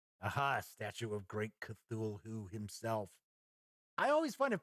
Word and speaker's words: Cthulhu: he has said that Lovecraft actually meant Cthulhu to be almost unpronounceable so it was not supposed to be it will be uttered by a human tongue so it's kind of supposed to be pronounced like who - who most of us kind of just a Cthulhu so here we get